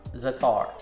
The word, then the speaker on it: za'atar: I'm not sure if I'm pronouncing it right. I believe it's pronounced za'atar.